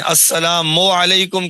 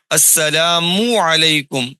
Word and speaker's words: السلام علیکم: استعمال کرنے نہیں آتے۔ السلام علیکم بعض کہتے ہیں، السلام علیکم کہتے ہیں، یا السلام علیکم کہتے ہیں، یہ سب غلط ہیں بھی۔ صحیح تلفظ سن لیں اور اسی کے مطابق سلام کیا کریں۔ السلام علیکم ورحمۃ اللہ وبرکاتہ، السلام علیکم، میم کے اوپر پیش صاف کرنا ہے، علیہ نہیں کہنا بھی، علیہ غلط ہے، علیکم۔ السلام علیکم